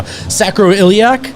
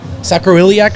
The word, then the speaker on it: sacroiliac: sacroiliac strain just qu just quadruple check the pronunciation on that just now sacroiliac sacroiliac strain that's like a what it's the sac